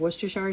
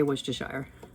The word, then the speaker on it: Worcestershire: And then I'm also going to add 2 tablespoons of Worcestershire sauce and 8 drops of Texas Pete or Cholula.